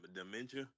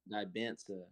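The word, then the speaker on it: Dybantsa: Dementia? Bro, what? No. No. Dementia's crazy. Hey, wait, how do you say his last name, though, Drifty? It's AJ what? Dibansa.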